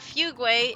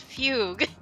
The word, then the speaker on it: fugue: It's not fuguay, it's fugue.